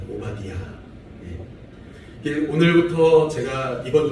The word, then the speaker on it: 오바디아: 오바디아 이렇게 되어 있어서 그렇게 발음하면 됩니다. 오바디아.